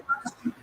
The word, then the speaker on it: Fauci: It's Can you spell it, please? Faucin.